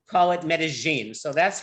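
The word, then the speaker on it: Medellín: of this province, say Medellin. The double L in Medellin is pronounced like a Y. But the people of this valley, called Paisas, call it Medellin. So that's how we say it, Medellin.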